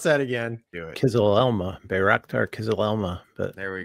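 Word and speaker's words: Kızılelma: Can you pronounce that again? Do it. KIZILELMA, Bayraktar KIZILELMA.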